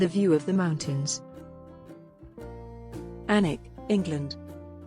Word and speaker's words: Alnwick: Alnwick, England. The first thing you should know about Alnwick is that the I is not pronounced. You can also skip the W, and, of course, the C and K.